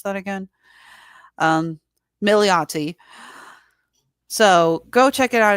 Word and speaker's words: Milioti: How the hell do you pronounce that again? Milioti.